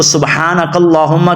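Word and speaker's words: سُبْحَانَكَ اللّٰهُمَّ: سبحانک اللہم، ہا کو موٹا پڑھنا ہے، اس لام کو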